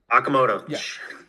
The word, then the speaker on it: Okamoto: Um they obviously added u how do you how do you pronounce his name? Okuna. Okunaza first base Okamoto.